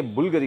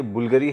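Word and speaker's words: Bvlgari: पहला परफ्यूम जो है ये बुल्गारी कंपनी का है। हाँ, ये बुल्गारी है, बल्गारी नहीं है, बुल्गारी। जो वी है उसे यू बोलते हैं, ये इसका करेक्ट उच्चारण है, सही उच्चारण प्रोनंसिएशन है।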